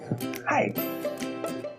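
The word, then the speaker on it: はい: Yes is hi. Yeah. And it's pronounced just like hi.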